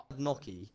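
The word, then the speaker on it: gnocchi: Have you guys ever had noky? Have you guys ever Oh, noky. What's Noky? Noki is great. It's spelled like G N.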